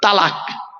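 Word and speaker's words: طلاق: হ্যাঁ, শব্দটা তালাক নয়, শব্দটা কিন্তু তালাক নয়। শুনে নিন, একটু ভুলটা সংশোধন করে নিন। জলসা দেওয়া হয় এ কারণেই বাবা। চলুন, শব্দটা কি? শব্দটা হলো তলাক। কি বললাম? তলাক। বলে আরবি উচ্চারণ কি? তোয়েল আমালিফ কপ। বাংলা উচ্চারণ কি? তয়ে বয় লয়াকার ক।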